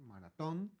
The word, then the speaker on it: maratón: M-A-R-A-T-O-N, maratón. Con acento en la Con O. acento en la O, porque a veces en la publicidad de algunos maratones le agregan un H.